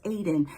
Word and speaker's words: Eden: It says Eden, but it's pronounced Aden.